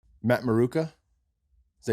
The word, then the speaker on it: Maruca: Matt Maruca. Is that how you say it? Yeah. All right. Maruca in Italian.